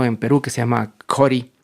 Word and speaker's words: Ccori: Pero por otro lado hay un gran proyecto en Perú que se llama Jori, creo que se pronuncia Jori porque está en alguna lengua nativa. Se escribe CCORI, que es de un chef increíble que se llama Palmiro Campo.